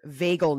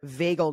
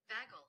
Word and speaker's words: vagal: system sympathetic nervous system and it is your vagal nerve your vagal nerve take a listen vagel I even said it wrong it's your